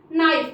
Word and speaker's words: knife: नाइफ मतलब चाकू, KNIFE नाइफ मतलब चाकू। यहाँ पे भी देखो आया हुआ है एन पहले तो के साइलेंट हो गया।